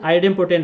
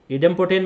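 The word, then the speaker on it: idempotent: ए इज ए N cross N आइडेम्पोटेंट matrix, इडेम्पोटेंट matrix जो भी आप प्रोनाउंस करते हो, इडेम्पोटेंट आइडेम्पोटेंट जो भी, तो ए इज ए N cross N इडेम्पोटेंट matrix then, ये आपको प्रूव करना है।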